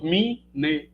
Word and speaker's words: mnemônico: Mesmo assim, quando a gente tenta pronunciar, o que a gente faz? A epêntese do izinho depois do M. Então você acaba fazendo duas sílabas, mi, ne, etc.